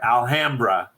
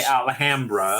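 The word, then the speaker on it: Alhambra: well I'm sorry Sonic gotta say it the way they say it there alhamra it goes against every every fiber of my being to say it that way but that's how they say it there so I say alhamra so did man yeah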